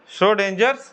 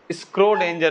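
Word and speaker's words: Schrödinger: सही लिख दिए हम, वाह, श्रोडिंगर, स्क्रोडिंगर नहीं है ना, तो बहुत सारा वर्ड इसमें साइलेंट है ना, श्रोडिंगर इक्वेशन।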